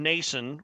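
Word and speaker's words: Noesen: plays to Carolina and Stefan Nason rhymes with Jason um going with our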